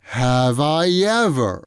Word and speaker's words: have I ever: produced in one breath have i ever have i ever usually when we use that phrase in a question the stress is on i have i ever have